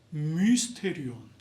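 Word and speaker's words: μυστήριον: 좀 발음 좀 정확하게 하면 미스테리온.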